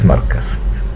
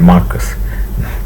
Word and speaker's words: markaz: They are called as markaz. Not Marcus.